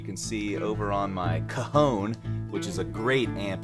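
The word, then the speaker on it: cajón: chair you know again can you pronounce the name of this yeah kahone kahone we call it a kahon yeah yeah exactly yeah c a j o n right you know probably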